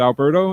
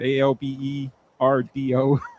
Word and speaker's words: Alberto: Because I've said Alberto and then I get it ALBERDO. See, because you don't pronounce the T.